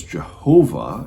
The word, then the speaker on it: Jehovah: you'll hear that as jehovah and that's just a transliteration of that with the y's to the jays and so that's where